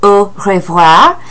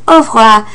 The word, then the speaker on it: au revoir: The most formal way is au revoir, which some people in France will pronounce au revoir. I typically just pronounce it au revoir.